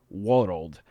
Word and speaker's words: weorold: Despite its compact single syllable in modern English, in Old English, world was a compound word pronounced weorld or weorold, comprising the Germanic roots wer, meaning man, and ald, meaning age.